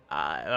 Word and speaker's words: peridot: It's Peridot. Okay, that. Then why does it have a T on it? Because the T is silent. You're Canadian, you should know all about weird pronunciations, and it's also a French pronunciation.